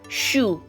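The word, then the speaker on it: 슈: If you noticed, I did not pronounce the Y character that was supposed to be present in these vowels because of this S sound. So wherever you see S in front of these particular characters, it's pronounced as SH.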